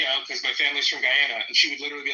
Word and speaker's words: Guyana: like, yeah, you know, because my family's from Guyana, and she would literally be like, it's pronounced Guyana.